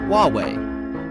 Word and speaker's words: Huawei: What's the correct pronunciation? Hauwei, Aki.